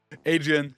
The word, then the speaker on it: Hadrien: Yeah, so H is silent.